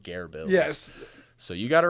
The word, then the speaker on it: GearBills: of uh well it's it's based off of Bear Grylls that's that's the whole joke so that's why it's pronounced Gare Bill yes so you got